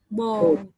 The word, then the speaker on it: ball: So one is the O sound. I'm putting in your, and the other is the O sound. Oh. Ball. So ball is O. Ball. And bowl is bowl.